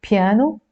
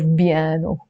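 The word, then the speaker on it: بيانو: B in Arabic okay so it's piano some Arabs pronounce it as biano so we will need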